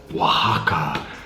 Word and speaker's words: Oaxaca: This, the one I'm making, it's called an Old Oaxaca. Anyone Mexican in the audience can tell me if I'm pronouncing that right?